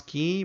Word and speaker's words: Quay: to key dot io we pronounce key but you can say quay doesn't matter as long as you use